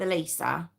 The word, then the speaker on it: Eliza: Now it is spelled Eliza. Um but everywhere I've heard her name pronounced it. So we're going to go with Elisa.